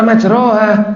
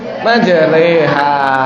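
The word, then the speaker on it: مجريها: Majroha. Kok ora majroha? Ternyata dibaca majreha. Namanya bacaan imalah. Oh, ono ya. Awalnya kan enggak tahu. Kok tiba ono majreha, barang ngono kok ono.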